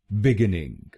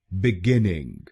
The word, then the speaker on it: Beginning: काफी लोग भारत में इस शब्द को गलत बोलते हैं, जैसे बिगिनिंग। आप इस शब्द को कैसे बोलते हैं? चलिए सीखते हैं इसकी सही प्रोनाउंसिएशन। इसकी सही प्रोनाउंसिएशन है बिगिनिंग। बिगिनिंग। इस शब्द में 3 शब्दांश हैं। पहला शब्दांश है बीई, दूसरा शब्दांश है GINN और आखिरी शब्दांश है ING। पहले शब्दांश को यानी बीई हम बोलेंगे बे बे।